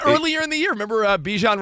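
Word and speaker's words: Bijan: Earlier in the year, remember Bjan Robinson was like, "It's Bjon, but you guys can call me Bjan."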